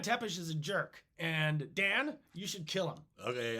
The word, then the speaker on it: Dan: It's probably pronounced Don, like D-A-N, but it's Dan. It's spelled Dan.